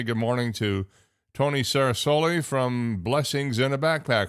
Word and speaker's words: Ceresoli: It's 8:15 and as I promised, I want to say good morning to Tony Sarasulli from Blessings in a Backpack.